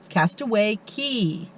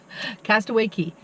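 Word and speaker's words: Castaway Cay: of Disney's Private Island Castaway Key okay fun fact it's spelled c a y but it's pronounced key um yeah I don't know why but it is Castaway Key Castaway Key awesome uh Castaway key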